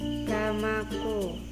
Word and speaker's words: ramaku: Nah, yang kedua romo plus ku, jadi bacanya itu ramaku.